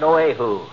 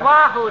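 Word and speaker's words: Oahu: lying on the sand at oo that's pronounced Wahoo Deary you said it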